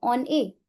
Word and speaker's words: on est: Here n will overlap the sound of e and this is called as liaison. Liaison. On est.